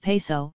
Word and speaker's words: Piso: The New Testament, the Church, and Christianity, were all the creation of the Calpurnius Piso, pronounced Peso, one family, who were Roman aristocrats.